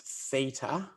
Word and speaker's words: theta: o with a line through it this is pronounced theta it's a greek symbol it doesn't really matter